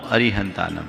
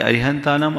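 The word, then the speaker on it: अरिहंताणं: पढ़ना चाहिए नमोस्तु गुरुवर अरिहंत एवं अरहंत में से कौन सा सही उच्चारण है देखिए धवला के मूल में जो सतखंडा आगम में उसका उचार उल्लेख है लिपिबद्ध रूप में नमो अरिहंतानम है हालांकि अरिहंतानम अरिहंतानम दोनों प्राचीन पाठ दिखते हैं नमो अरिहंतानम यानी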